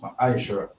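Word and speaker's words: מעשר: Means tenth in the Hebrew and is pronounced ma'aishara.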